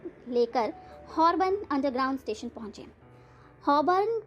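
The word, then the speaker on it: Holborn: हॉबर्न को वे हमेशा हॉलबॉर्न ही कहते हैं। उसके स्पेलिंग ही ऐसे हैं। अंग्रेजी के साइलेंट लेटर हमेशा ही उनको परेशान करते थे।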